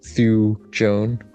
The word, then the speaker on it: thujone: A huge amount of thujone or thuone. I don't know how to pronounce it. It's Thujone.